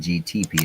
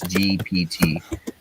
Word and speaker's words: GPT: I've been saying GTP. It's GPT.